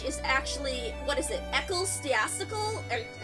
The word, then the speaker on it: ecclesiastical: I always forget whether the second syllable, the ecclesiastical. I forget whether the second syllable was cla or like kel.